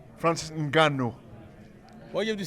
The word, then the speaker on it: Ngannou: Francis Ngannou. Why you have to say it that way? All right, how do I say it then? Francis Ngannou, not Ngannou.